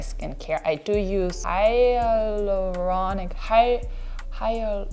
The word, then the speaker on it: hyaluronic: I do use hyaluronic higher I think that A is silent.